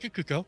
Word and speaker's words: Cuoco: How you say it? Kuko. That's correct. Yes.